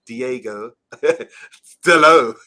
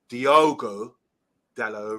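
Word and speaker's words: Diogo Dalot: because we can't pronounce Diego Delo, as according to you. I find it hilarious that only 1 in 10 people know that his name is actually Diogo Dallo rather than Diego, and finds that hilarious.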